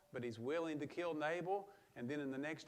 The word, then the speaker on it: Nabal: to show wrath to Nabal. Or we will pronounce his name correctly, Neville.